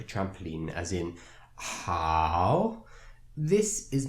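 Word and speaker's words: 好: The second character in our word ni hao, the second character here is hao. Hao has a third tone.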